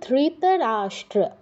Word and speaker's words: ধৃতরাষ্ট্র: তুমি বলো একবার ধৃতরাষ্ট্র না ধি নয় ধৃ বলো ধৃতরাষ্ট্র ধৃতরাষ্ট্র হ্যাঁ কিছুটা হয়েছে একটু ভুল আছে দেখো স ট র স ট র যুক্ত হয়েছে তাহলে কি হবে স্ট্র ধৃতরাষ্ট্র বলো ধীতা হ্যাঁ এবার